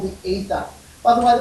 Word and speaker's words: aether: not see called The Ether by the way the pronunciation of this is ether that AE is a very old-fashioned um lettering combination in both Greek and English and it is English